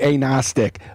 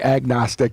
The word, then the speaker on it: agnostic: If you want to pronounce it correctly, you wouldn't say the G. You'd say agnostic, but I'll say agnostic so that you know what I'm saying.